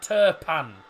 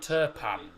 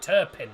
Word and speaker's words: Turpin: pack no Clement turpan he's spelled t-u-r-p-i-n because he's France it's because he's from France it's Clement turpan so the the eyes pronounces are near turpan I don't know why I call him terpin normally alternate that's a